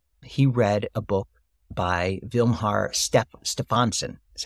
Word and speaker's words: Vilhjalmur Stefansson: He read a book by Vilhjalmur Stefansson, is how it's pronounced, who was an explorer who spent a year with the Eskimos.